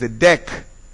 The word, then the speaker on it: dec: Of course, the way that it is pronounced, the C is sounded here, is because of the vowel that follows. If the vowel is an A or an O, it is dec.